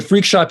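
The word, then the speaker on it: Freqshop: it's kind of hard it's freq like frequency so that's kind of where that comes from we got a lot of frecks but uh yeah Frick shop but freakshop is spelled f-r-e-q-s-h-o-p and then you can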